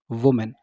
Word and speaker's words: women: अगर ये लिखा हुआ होता WOMEN, इसको हम बोलते हैं विमेन। ठीक है, इसको हम बोलेंगे वुमेन। ठीक है, इसको हम बोलेंगे विमेन। ठीक है, दोनों की प्रोनाउंसिएशन अलग अलग होगी, दोनों का उच्चारण में अंतर है क्योंकि यहाँ पर काफ़ी